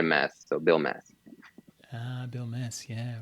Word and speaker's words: Bilmes: I had to write down phonetically how to pronounce it because I kept saying blinds for some reason I even spray essentially yeah